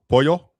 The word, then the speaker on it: pollo: Y, double L's are pronounced Y. Pollo.